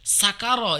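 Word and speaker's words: سكر: Kemudian eh syakaro syin ya. Syakaro itu artinya bersyukur. Terima kasih. Sakaro itu artinya mabuk teler. Jadi ee apa namanya kalau istilah jawanya mendem. Makanya berbeda. Jadi syin sin ya sakaro sakarah alam-alam berbeda ya.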